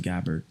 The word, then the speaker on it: Gabbard: what's happening to Tulsi Gabbard excuse me Tulsi Gabbard pronounce her name correctly everybody she doesn't really mine either way it seems but just out of professional courtesy her last name is Gabbar do you not see